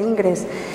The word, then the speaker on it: Ingres: acabada, eso lo decía Ingres, o Ingra, que es como se pronuncia en francés.